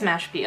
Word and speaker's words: Mashpee: also good luck to the how do I pronounce it okay it is Mashpee okay I don't want to pronounce things wrong